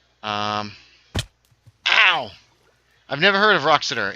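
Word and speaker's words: Wroxeter: Okay, so Shropshire, and I believe it's pronounced Roxeter.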